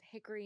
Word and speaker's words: Hickory: this small town of Hickory North Carolina but if you're from there you you call it Hickory Hickory it's like two syllables Hickory it's Hickory Hickory Hickory